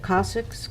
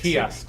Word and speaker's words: kiosks: Eagle Scout and how do you say that, Cossacks? How do you say that word, the signs? Cossacks? Kiosks.